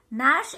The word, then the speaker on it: gnash: In this, G is silent, and in this, no, again G is silent. In both these words, G is silent. They started to gnash and gnaw.